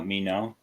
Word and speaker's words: Minot: been doing including uh Mino is that how you say it mean no Air Force yeah yes because I was I know I was I was Air Force Roxy and Minot was where they threatened